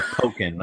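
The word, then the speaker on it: Pokkén: poken or pocken anymore how do you say that Justin you want to correct me on that it's uh poken according to uh the what do you call the people at Nintendo tree house all right so according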